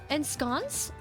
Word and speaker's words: ensconce: Ensconce is pronounced as ensconce.